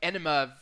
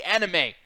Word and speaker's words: anime: by the way half the time you say anime night I think you're going to do this like enima stick of these up people's asses like anima night like you always say it like that say anime Jesus sorry pervert godamn God